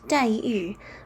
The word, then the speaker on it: Daiyu: His name is Daiyu the dragon, and in Chinese it's pronounced Daiyu, which means generation and jade.